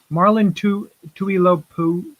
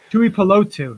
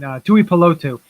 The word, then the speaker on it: Tuipulotu: Also, one surprising, I think, was Marlon Tuilopu. I can't even say it. Don't hurt yourself, kid. Tuipulotu. There we go. I said it right. Yes. I didn't look at it for a second. Tuipulotu.